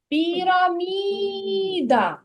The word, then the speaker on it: піраміда: це слово піроміда піромідаміда куди падає наголос на піраміда пірамі який наголос намі намі намі на третій склад піраміда А у слові